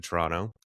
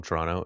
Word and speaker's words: Toronto: so I moved to Toronto. And for those of you who aren't from Toronto, it's Toronto, I guess is how other people say it, Toronto.